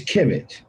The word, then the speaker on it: Kemet: It's Kemet, even though it's spelled KMT. There's no vowels in it.